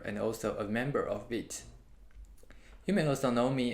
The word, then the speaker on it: Vite: appreciate that alright so what is beat which is a french word meaning fast and it's not pronounced as white the initial the initial